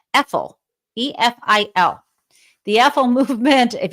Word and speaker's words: EFIL: And then if you write it in reverse, it's EFIL. It almost rhymes with evil. EFIL, E-F-I-L.